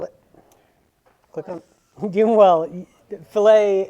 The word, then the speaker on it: fillet: click on given well fillet and fill it are spelled the same way but they're two different things yeah click on actually